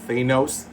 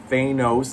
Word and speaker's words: Thanos: Anyway, Volume 5, The Return of Thanos. Thanos, not Thanos, guys. The only reason why they don't want to say Thanos is because it's close to saying anus.